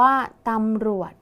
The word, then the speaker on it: ตำรวจ: คะ ตำรวจ อ่าน ว่า ตำรวจ นัก เรียน สังเกต คำ ว่า รวย มี จ จาน เป็น ตัว สะกด ออก เสียง พยัญชนะ ท้าย เหมือน ด เด็ก ดัง นั้น คำ นี้